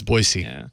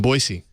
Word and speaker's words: Boise: say it everybody say everybody outside of Idaho says Boise a z but it's boisey wey I didn't know that